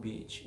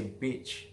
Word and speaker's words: beach: For example,Beach is nice warm beach where you swim but if you pronounce I sound very short you will miss something else beach is not a